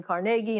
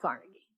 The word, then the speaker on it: Carnegie: meeting and reminded everyone to say his name carnegie not carnegie so i tried to